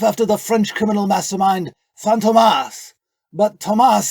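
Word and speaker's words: Fantômas: the French criminal mastermind phantomas but Tomas sounds like two formal a name so I shortened it to Phantom the circumflex over the O reminds you how to pronounce it you could just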